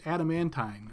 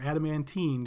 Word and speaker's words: adamantine: It's adamantine or adamantine, depending on how you want to pronounce it.